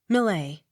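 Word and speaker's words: Millais: x sounded as s m i l l a i s malay accent on first syllable m i l n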